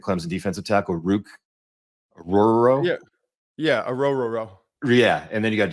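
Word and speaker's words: Orhorhoro: Yeah, Ororo.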